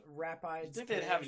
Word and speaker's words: Rapides: Pronounced Rapides.